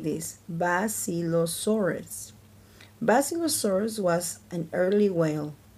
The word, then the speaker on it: Basilosaurus: You say it like this, Basilosaurus.